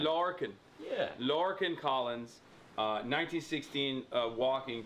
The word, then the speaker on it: Lorcan: We gotta introduce you, LORCAN Collins. Am I saying it right? Yeah, that's right. That'll do me. How would you and how would I say it? No, LORCAN is fine. LORCAN.